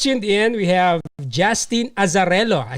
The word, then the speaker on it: Azzarello: If you just tuned in, we have Justin Azzarello. I said it right? Yes. Yes. Azzarello.